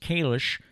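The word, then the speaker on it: Kalisz: I believe they're pronouncing it Kalish. You and I would look at the name as, around here, we'd say Kalis, because it is spelled just the way the former mayor spelled his name.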